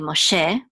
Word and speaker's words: Moshe: version of Moses but in Hebrew it's really Moshe um it so here there's only one truck Mark it's um with a syllable dot so it's called a DOT and